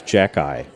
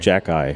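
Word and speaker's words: Xhekaj: I don't remember his first name, but his last name is Jack-Eye. That's how you pronounce it. Jack-Eye. Jack-Eye.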